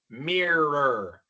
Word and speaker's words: mirror: Mirar, pero inmediatamente después tenemos que pronunciar otra r. Mirror. Mirror. Y pasa aquí lo mismo que las dos palabras anteriores. No se preocupen por la pronunciación correcta de esta o. Van a pronunciar una r inmediatamente, después otra rolita.